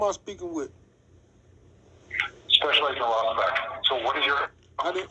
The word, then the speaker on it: Rossbach: Special Agent Rossbach.